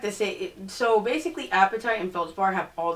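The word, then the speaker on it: apatite: Um, if I ever get an example of an appetite, I'll show you guys. And that's not appetite like you're hungry. It's a p a t i t.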